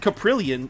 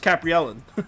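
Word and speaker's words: Kaprielian: i mean i capriel you said caprillion is that how you say it okay brilliant i thought it was i thought it was capri ellen but anyway you can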